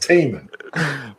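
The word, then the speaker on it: Tih Minh: It's pronounced Teeman. As in, that lake is teeming with salmon.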